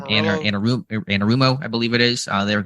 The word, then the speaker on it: Anarumo: Anarumo, I believe it is.